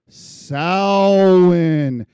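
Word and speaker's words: Samhain: Halloween has its roots in the Celtic festival of Sin. That's pronounced Swin.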